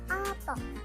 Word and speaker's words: apa: Tapi kalau bahasa Jawa kita bacanya opo, pakai tanda tanya, opo.